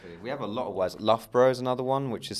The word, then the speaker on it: Loughborough: ello ugh is the first part which is love which is not how what you think is and then borrow at the end Loughborough which is you know